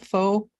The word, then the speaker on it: pho: Pho Nong, the place here is Pho Nong, but it's pho, right? Yeah, that's pretty close to the same. It's pho. It's a pho. It's called pho li, and it's on the highway.